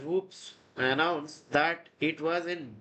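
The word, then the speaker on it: WPPSS: on July 25th 1983 wppp SS pronounced as whoops announced that it was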